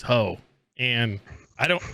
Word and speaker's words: Ho: name was ho oh spell it h-o ah there was no getting her it was hoe and i don't like